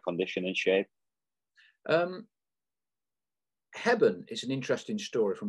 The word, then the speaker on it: Hebburn: So Dunstan, and I'm going to pronounce this wrong, aren't I? Hebburn?